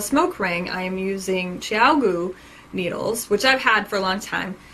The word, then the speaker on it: ChiaoGoo: of all to see how to pronounce this properly it's Tiago and that actually means